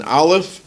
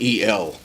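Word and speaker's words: אל: It uses the name of God, an aleph and a lamed. It's pronounced like the name of a beer, A-L-E. That's how it's pronounced. In Israel, they don't pronounce A. They'll say, it'll be like E-L.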